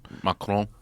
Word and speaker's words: Macron: Macron.